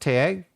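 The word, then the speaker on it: Tadhg: Taj is pronounced Tag.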